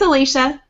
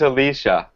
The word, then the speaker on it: Alicia: the sh and um everybody thinks it's more of a Spanish name and uses more of an S sound like um the Spanish